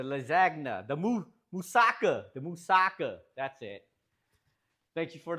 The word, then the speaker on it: Moussaka: The musaka. That's it. Thank you for the pronunciation check.